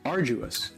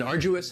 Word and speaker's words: arduous: On the first syllable. Arduous. Now, you Arduous. don't hear Arduous. that D sound that much. It's not Arduous. very strong. Arduous. It almost sounds a little like a J.